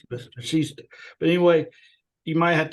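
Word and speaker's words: Vasishtha: Brother, I'm going to read a little bit of commentary on the Yoga Vishta. Yoga Vashishta. Vashishta. But anyway, you might have to help me on the pronunciation here, but it says in Vedanta, the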